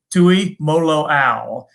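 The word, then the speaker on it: Tuimoloau: right jake i've said it enough times jt tui molo al uh from the state of washington once again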